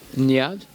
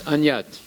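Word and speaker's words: अन्यत्: So is it right? Nyad? No, it's not right. It's anyat. Both times it's anyat.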